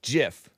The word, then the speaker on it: GIF: it was this flashing GIF some call it a gif but I think it's pronounced Jiff but call me and